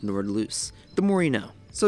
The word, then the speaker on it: Nordlys: of course nord loose i thought it was pronounced nordless but it's pronounced nord loose the more you know